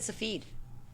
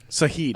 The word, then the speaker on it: Sahid: I thought you said Safid. Sahid.